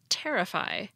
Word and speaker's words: terrify: get thoracic not thoracic the verb terrify has stress on the first syllable terrify but the adjective terrific